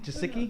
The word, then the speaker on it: Gesicki: Is how you pronounce his name? Gesicki. Gesicki.